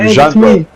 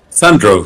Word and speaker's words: Sandro: you say your name jro it's jro oh no it's shro no it's it's like it's um Sandro from it's like from Alexander okay and the last name